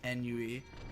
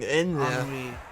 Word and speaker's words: ennui: That's probably not how you pronounce that word. What? Ennui.